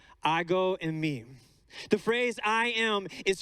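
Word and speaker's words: ἐγώ εἰμι: book of john the in the greek it is pronounced i go in me i go in me the phrase i am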